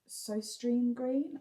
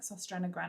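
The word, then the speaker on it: Søstrene Grene: This is the Winter Solstice candle from Sostrine Green. I know it's not pronounced Sostrine Green. It's pronounced like Sostrena Grene or something.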